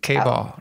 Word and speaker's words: KBall: KBall rhymes with ball.